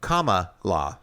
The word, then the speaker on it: Kamala: Kamala. Like like a comma.